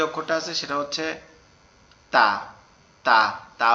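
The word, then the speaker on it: ت: ঠিক আছে, এরপরে যে অক্ষরটা আছে সেটা হচ্ছে তা, তা। তা অক্ষরটা আমাদের জিহ্বার আগা উপরের দাঁতের গোড়ায় গিয়ে লাগবে, লেগে উচ্চারিত হবে তা, তা, তা, এরকম ভাবে।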